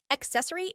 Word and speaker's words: accessory: single s sound however each of these c letters represents a different sound a hard c and a soft C with that in mind accessory is pronounced access uh